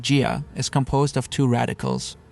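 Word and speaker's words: 家: The Chinese character for home or family, pronounced jia, is composed of two radicals, a roof on top and a pig underneath.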